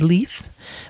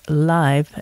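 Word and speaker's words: Leif: a swedish pronunciation is leaf but i believe the correct pronunciation is live and then if i do a little bit in a swedish style or you could say leaf a very anglicized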